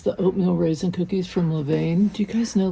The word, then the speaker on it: Levain: um he loves the oatmeal raisin cookies from Levan do you guys know Levain oh my God I don't know if I'm pronouncing it correctly l e v a i